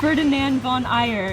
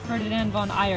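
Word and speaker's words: Ferdinand von Aegir: that ferdinand gosh they really messed it up ferdinand von eyer is pronounced ferdinand von eyer because i probably would have pronounced it here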